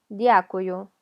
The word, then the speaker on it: дякую: Дякую, дякую. Hay gente que lo escucha como y-a, дякую, pero es d, hay que pronunciar la d, o sea, tocar con